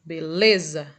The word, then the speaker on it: beleza: Então, por exemplo, beleza, qual é a sílaba que demora mais? O lê, beleza, ok?